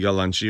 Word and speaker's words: yalanchi: We pronounce it yalanchi, or I mean, that's the Turkish way to say it.